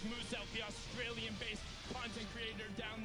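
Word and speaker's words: Muselk: His name is pronounced as Moose Elk, the Australian-based content creator down there.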